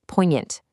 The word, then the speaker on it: poignant: That G is a total ghost. It's poignant, drawing from its old French roots.